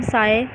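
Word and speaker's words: ψ: symbol is a wave function and it is pronounced as psi. ठीक है, इसको हम psi पढ़ते हैं.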